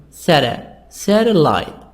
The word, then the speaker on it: satellite: In this exercise, satellite. So the stress in the first part.